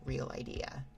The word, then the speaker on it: Realidea: Gotta remember the dev is Spaniard.